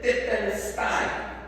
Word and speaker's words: Tetelestai: Entonces la palabra consumado es titelstein, así se pronuncia en griego.